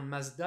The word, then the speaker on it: Mazda: la marque mazda alors nous on la prononce bien mazda avec le z il faut savoir que